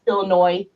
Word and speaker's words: Illinois: if you're watching this, Illinois. Let me make sure I don't pronounce that S.